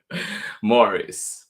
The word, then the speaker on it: Maurice: Books of San Francisco did I say Maurice Maurice good luck to me trying to keep the one pronunciation Morris by Jessica Bagley here